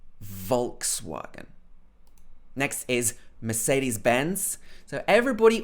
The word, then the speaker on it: Volkswagen: ford volkswagen of course this w in german would be more like a v it would be something like volkswagen but in the uk we would probably say volkswagen volkswagen next is mercedes-benz so